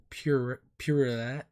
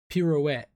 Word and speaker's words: pirouette: This is Purelette. Ballerina form basically. Purelette. I can't even say the word. Pirouette. Yeah, that's how you say it.